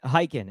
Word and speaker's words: Khaykin: Khaykin. It's a silent K in the beginning of my last name.